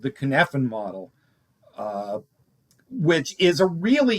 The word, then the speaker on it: Cynefin: it's in Welsh, and Welsh may as well be Greek, and there's too many consonants, and help me out. Listen, you're the first. This is the first show I've been on where the host said it right.